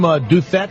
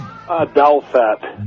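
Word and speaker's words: Douthet: and I'm sure, is your last name Duthet? Is that how you say it? Douthat. Douthat, D-O-U-T-H-E-T.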